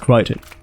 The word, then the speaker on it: Crichton: except to threaten to press charges yo it's pronounced Crichton let's talk fallout 4 visually the game is